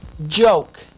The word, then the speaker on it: joke: for a few minutes over here we have yoke listen to this yoke and this word is joke J joke this is yoke and here is joke